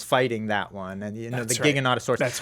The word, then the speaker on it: Giganotosaurus: I've been pronouncing this thing the Giganotosaurus. Giganosaurus. I was like, that's what I was saying. Apparently, it's the Giganotosaurus.